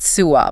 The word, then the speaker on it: SUWA: groups like The Southern Utah Wilderness Alliance they pronounce it suah by the way the Utah public lands Alliance